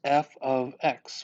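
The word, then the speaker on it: f(x): known as the input okay again this is pronounced f of x what that means is that whatever you see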